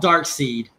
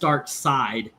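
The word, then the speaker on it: Darkseid: It's spelled Dark Seed, but it's pronounced Dark Side, and it confused him for many years.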